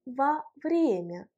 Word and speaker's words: во время: Faites attention à la place de l'accent tonique dans la construction во время. Во время, va n'a pas d'accent tonique parce que c'est une préposition, alors que время, l'accent tonique frappe la voyelle е.